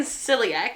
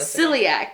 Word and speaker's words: celiac: life who has celiac, I've definitely been saying celiac this whole time. No, you have. You're saying it wrong. But celiac. Celiac. Celiac. Celiac. Yeah. Celiac. Celiac.